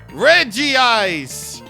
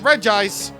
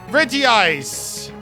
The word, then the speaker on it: Regice: It's everybody's favorite unpronounceable Ice-type Pokemon, legendary Regice. If you pronounce it Regice, you're in the complete right to do so, but you are wrong. Regice, look at you.